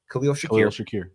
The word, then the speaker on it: Khalil Shakir: After that, it's Curtis Samuel, and then I'm saying his name wrong. Khalil Shakir.